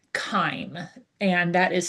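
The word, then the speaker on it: chyme: And it's also when food gets mixed with gastric juices and it becomes something called kime and that is spelled ch h y m e.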